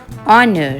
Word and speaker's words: honor: Here the H is silent, so it is pronounced as honor.